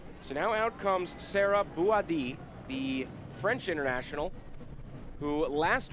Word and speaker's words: Bouhaddi: And yes, it is pronounced Bouhaddi.